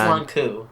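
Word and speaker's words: Lon'qu: It's just Longku. Longku. I'll just replace it with a K. No pause. It's just like long coup.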